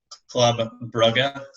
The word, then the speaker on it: Club Brugge: So Belgium, a couple of weeks ago, declared Club Brugge, as it is pronounced. I learned that recently.